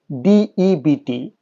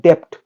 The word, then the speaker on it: debt: DEBT, the pronunciation is not debt, it is debt. Your lips will not touch.